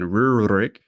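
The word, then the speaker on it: Rurik: is that guy so this is rurick or maybe to approximate the Russian pronunciation Ruck and he was the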